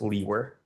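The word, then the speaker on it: Liewr: name is and my last name is spelled l i e w r and it's pronounced leer and where are you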